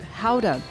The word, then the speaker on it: Gouda: to sample some aged gouda and especially without it costing an arm and a leg foreign in Dutch they pronounce it houda hide that back home go